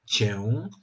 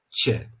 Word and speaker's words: cię: podczas wypowiadania takiego wyrazu ta samogłoska nosowa traci tę cechę nosowości i po prostu wymawiana musi być jako zwykłe e czyli zamiast mówić tak hiperpoprawnie wyraz cię powinniśmy powiedzieć cię zamiast Widzę i opisuję